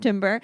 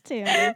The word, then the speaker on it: timbre: Because I need to know, because I've definitely used this word and would have pronounced it timber in my writing. It's timbre.